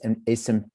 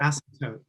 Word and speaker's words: Asymptote: His poems and translations have appeared in many journals, including Anomaly, I never know how to say this, Asymptope, how do you say it? I know what it is. What? Asymptote. Asymptote.